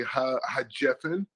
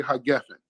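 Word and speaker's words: הַגֶּפֶן: Or like, say the Yemenites say ha-jefen, and everyone on the wine blessing, and then people say ha-gefen, right?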